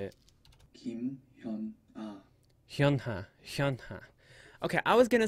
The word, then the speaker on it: HyunA: HyunA.